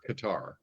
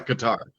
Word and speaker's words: Qatar: So Google says it's Qatar. Like that's it gives the phonetic pronunciation. No, you hit a button and it says it out loud and you can hear it in your speakers. It says Qatar. Okay. This is Qatar.